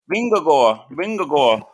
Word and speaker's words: Vingegaard: But, Jumbo Visma with Matt, say it, pronounce it, Vingegaard. Vingagor.